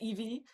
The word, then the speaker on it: Ivie: hear my name because my first name is Evee, but since I'm from the Netherlands, it's spelled like this.